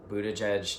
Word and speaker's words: Buttigieg: Buttigieg did.